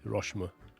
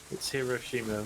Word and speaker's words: Hiroshima: angry all the time Hiroshima with emphasis on the second syllable second syllable he